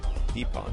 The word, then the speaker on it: Dipan: Deepon.